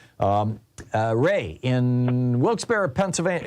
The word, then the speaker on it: Wilkes-Barre: um uh Ray in Wilkes-Barre Pennsylvania is it Bear bar how do you say that Pennsylvania it's Wilkes bar isn't it Wilkes-Barre okay thank you